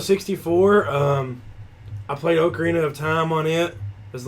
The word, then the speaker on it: Ocarina: me a Nintendo 60 before um I played Ocarina of Time on it as Legend of Zelda